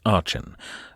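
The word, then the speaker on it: Aden: his way to Ain I'd like to thank Eric for correcting my pronunciation there I think I called it aen and it's Ain but it was a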